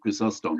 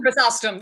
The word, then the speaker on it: Chrysostom: John I can never pronounce it, Chrysostom. Chrysostom, it doesn't matter. Chrysostom, people say both, right?